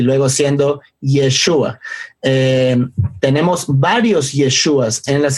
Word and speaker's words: Yeshua: Sabemos, mucha gente aprendió Yahshua, y así es como Michael dio sus primeras enseñanzas, pero luego aprendió más hebreo y ahora dice Yeshua, pero está bien, sabemos,